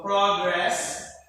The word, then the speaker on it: progress: the first rule so most nouns and adjectives with two syllables this stress is under one first syllable so the first the progress that is now progress